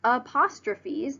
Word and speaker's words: apostrophes: They are pronounced apostrophes. That PH makes a F sound.